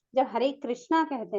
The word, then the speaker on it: कृष्ण: तो आपको कृष्ण करके ही उच्चारण करना चाहिए, कृष्णा करके उच्चारण नहीं करना चाहिए।